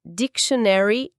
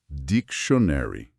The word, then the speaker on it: dictionary: Esse final muitas vezes tem um som que a gente pode aproximar aqui pro português como shany.